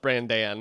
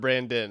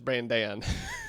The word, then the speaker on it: Brandan: like, oh, I guess it is pronounced Brandan instead of Brandon. It's Brandan. So Yeah, that's just a fun I little don't thing know.